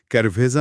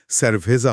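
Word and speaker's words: cerveza: এই গিয়ার শিফটের কারণেই তাহলে স্যারভেজা মানে বিয়ের শব্দটিতে সি এর পরে ই থাকার কারণে উচ্চারণটা ক্যারভেজা না হয়ে স্যারভেজা হচ্ছে।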